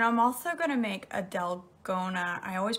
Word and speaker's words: dalgona: So, and I'm also gonna make a dalgona. I always pronounce it wrong. Dalgana, dalgona coffee this morning.